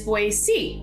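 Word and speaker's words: Boise: to talk about is boy c not pronounced with a z but rather with a c so boy c now to me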